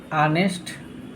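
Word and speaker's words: honest: तो अब देख ए से है ले उसका उच्चारण क्या हो रहा है दोस्तों नेस्ट इसलिए दोस्तो क्या हो जाएगा यह एन ऑनेस्ट मैन ठीक है दोस्तों तो इस तरह से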